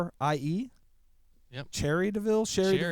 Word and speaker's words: Cherie: Cherie.